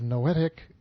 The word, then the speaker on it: noetic: The research concerned the effectiveness of noetic techniques, spelled like poetic, only with an N.